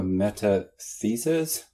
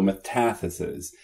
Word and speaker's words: metathesis: A metathesis? No, metathesis. Metathesis is the transposition of letters, syllables, or sounds in a word.